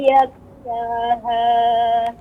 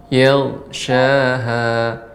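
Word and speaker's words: يغشاها: Wal laili idza yakshaha. Yaghshaha. Adanya naik ya. Suaranya naik karena memang ghain ini salah satu huruf isti'la.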